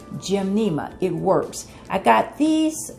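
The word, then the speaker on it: Gymnema: cannot recommend this enough it's called gim Nea the sugar Destroyer I'll spell it for you because I see I have a glare it's G y m n e m a gim Nema it works I got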